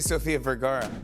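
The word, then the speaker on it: Sofía Vergara: Here and you keep saying my name wrong. Soph. Usually I say Sophia Vgara.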